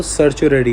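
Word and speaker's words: certiorari: इसका देखिए, इसकी जो प्रोनाउंसिएशन हो तो सर्चुररी होती है, ठीक है।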